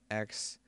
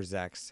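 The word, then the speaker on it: Xex: deck now first is the worm x or zex however you want to say it i don't think there's a z pronunciation in the word but the internet can yell at me i don't care um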